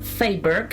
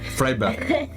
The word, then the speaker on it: Freiburg: El 28 de octubre de 1921 nació en Freiburg, Alemania. No sé cómo se pronuncia, pero la diré así. Freiberg. Freiberg. Vos preguntándome.